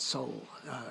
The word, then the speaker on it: sol: Sol is so, S-O-L, out of luck. And many people pronounce it soul, soul or so.